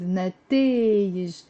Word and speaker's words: نتائج: But of course when I use طلعوا they went up with نتائج. نتائج. It's 3 syllables.